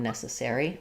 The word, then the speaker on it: necessary: And then for necessary, we have the letter E says the S sound. Letter C says the S sound. This second letter E is going to be unreduced. It's going to be unstressed, so it'll be more of a reduced schwa sound instead of an F for that E. Another S sound, and then letters AR say the air diphthong in necessary. Letter Y says the E sound.